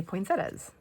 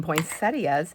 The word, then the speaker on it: poinsettias: And I will say this, I used to always say poinsettas. And I love the word and I love the flower. And the reason why I started calling them poinsettias is because I cannot spell that without saying it that way.